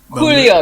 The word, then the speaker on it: Julio: So Julio, you got to pronounce everything in the original. Properly. Silent J, a silent J, as they say.